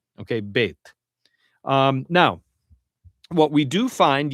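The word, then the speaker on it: ב: realizations of the letter Beit. And what I mean by different realizations, we mean that sometimes it's pronounced or realized as B, as in boy, and sometimes it's realized as V, as in very.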